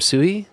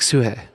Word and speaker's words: Suhe: But he did say it's Suhe, like Suhe. And I'm like, okay, Suhe, that can work too, Suhe. It's just changing it from an E to an E.